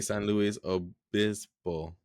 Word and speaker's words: San Luis Obispo: Oh, Cal Poly San Luis Obispo.